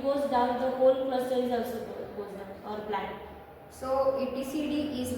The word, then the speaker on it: etcd: Then the fourth one is the etcd pronounced etcd distributed key value stores at the host or cluster data.